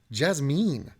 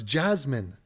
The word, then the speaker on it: Jasmine: how your brain works you mispronounce a name that you've already nailed jazmyne no it's Jasmine authority Esmond authorities say